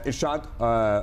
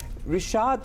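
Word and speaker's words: Rishad: शाहीन अफरीदी और इरशाद हुसैन ने तीन-तीन विकेटें हासिल की। वैसे रिशाद है ये। अब इनके स्पेलिंग जरा आर आई से शुरू होते हैं।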